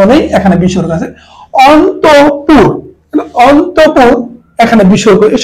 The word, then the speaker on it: অন্তঃপুর: এখানে বিসর্গ আছে অন্তপুর অন্তঃপুর এখানে বিসর্গ এই শব্দটি যখন লিখবো অন্তর্পুর কিন্তু উচ্চারণ অন্তঃপুর বিসর্গের জন্য র আসে কিন্তু আমরা উচ্চারণ করি অন্তঃপুর তাহলে অন্তপুর কিন্তু অন্তরে